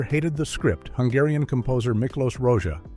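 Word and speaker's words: Miklós Rózsa: Hungarian composer Miklos Rozsa, pronounced Miklos Rozsa, was initially thrilled when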